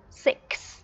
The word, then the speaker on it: six: Thường thì các con có thể phát âm rất chính xác ở một chỗ là letter 6, có một âm S ở cuối cùng. Nhưng mà các con không để ý là nó còn có một âm K ở trước đó, đúng không? Nên mình sẽ đọc là six, six.